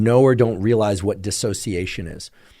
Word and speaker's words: dissociation: Often we hear about dissociation, sometimes called disassociation. Some people pronounce it dissociation. Guess what? Despite being corrected many times for each of those pronunciations, I checked with my colleagues who are experts in dissociation or disassociation, and guess what? They're the same thing.